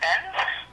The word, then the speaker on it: Benz: Lieutenant Benz. Benz? Mm-hmm. How do you spell that? B-E-N-Z. Benz. Oh, like it's Mercedes-Benz.